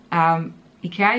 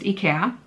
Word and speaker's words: IKEA: So IKEA is Swedish. It's pronounced IKEA. That's how it's pronounced in Sweden, where it's from, and in Europe. In North America, for some reason, you pronounce it IKEA.